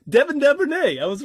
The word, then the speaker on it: Duvernay: Yeah, Bateman and that Devernay or Dever or something. so hot at pronouncing stuff. You know who I'm talking about, man, because he showed up on the waiver wire. You're like, Devin Duvernay.